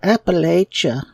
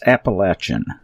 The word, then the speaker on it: Appalachia: get involved with the Appalachia and we despise that word that that pronunciation. It is so incorrect and it's so pretentious. It's Appalachin.